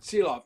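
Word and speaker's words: Silovs: Silov, thank you.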